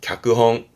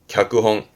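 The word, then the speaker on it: 脚本: 발음은 갸끄홍. 갸끄홍.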